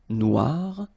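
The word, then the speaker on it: noire: So it's quite funny because you will have to add this uh at the end of noir for the feminine form but then you don't pronounce it. Okay. So phonetically it is exactly the same noir.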